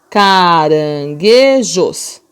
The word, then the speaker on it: caranguejos: separadas cara não beijos mas eu não ouço o som do n eu ouço o som do jeito tá vendo que legal